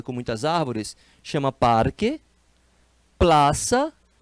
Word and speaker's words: Plaza: muitas árvores chama Parque Plaza escreve com z mas a pronúncia é de S né o Z em